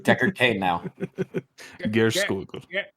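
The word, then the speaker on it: Geirskogul: Gerskogul. Gerskogul.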